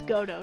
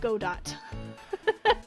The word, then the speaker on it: Godot: yeah good good godo and yes it's Gotoh not Godot the T is silent